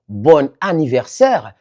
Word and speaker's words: bon anniversaire: C'est la liaison obligatoire entre un adjectif et le mot qui suit commençant par une voyelle ou un H muet. Ce qui fait que le N final redevient sonore.